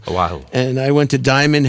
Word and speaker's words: Oahu: Oahu. Oahu. Oahu.